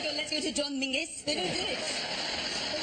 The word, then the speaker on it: Menzies: In fact, you should pronounce it John Mingus. Apparently, it's to do with a defunct Scottish letter Zog.